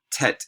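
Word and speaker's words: טית: right johan sebastian bach tet is like our a hard t sound uh yod is like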